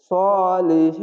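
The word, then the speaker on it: صالحين: গোল হা এখানে দেখেন এরকম এই হাটি উচ্চারণ হবে শুধু হা আর এ হা উচ্চারণ হবে বাতাস বের হবে হা অবশ্যই এরকম হবে সালেহীন অবশ্যই মোটা করে একটু বাতাস বের করে উচ্চারণ হবে আশা করি আপনারা এই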